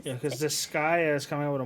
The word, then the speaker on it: Disgaea: whole like that character and then Dissidia or Diskygo, however you pronounce that shit. Wait, they have like a new mobile game. Diskygo? This whatever. Say what? Diskygo? Disgaea, thank you.